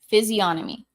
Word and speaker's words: physiognomy: Physiognomy. Okay. Thank you. I didn't think that the G was supposed to be pronounced, but it's a very weird word.